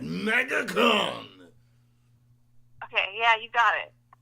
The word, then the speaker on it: MegaCon: You got to say it like Megatron. MegaCon!